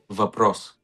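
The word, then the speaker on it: въпрос: Vapros. Vapros. Yeah, perfect pronunciation.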